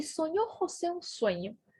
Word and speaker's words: José: Olha como eu pronuncio o J. José. Ha, re, ri, ro, ru. José.